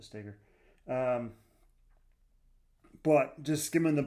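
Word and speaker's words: Stoeger: Um, he being Ben uh Stagger. I think it's Stagger. Um, it's spelled like Stoer the Shotgun, but I think he calls it Stagger.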